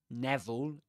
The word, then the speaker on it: Neville: Neville with an E. Neville, right? Not Vil, not Neville, but Neville.